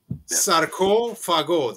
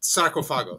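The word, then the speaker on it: Sarcófago: Sarko Fago. That's how you pronounce it, people in YouTube land. Sarko Fago, not sarcophago. It's Sarko Fago.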